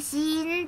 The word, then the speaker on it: 死印: 死ぬ印と書いてシーンっていうらしくて